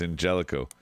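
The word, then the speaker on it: Angélico: was even in existence it's a soft g whatever he calls it he's very white it's angelico it's a gyro it's a gyro proud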